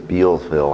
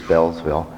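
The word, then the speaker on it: Beallsville: go to what I had been saying was Beals fellow I'm told it's actually pronounced as Bell's Vil it's a couple miles north of Poolesville right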